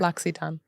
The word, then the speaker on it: L'Occitane: L'Occitane.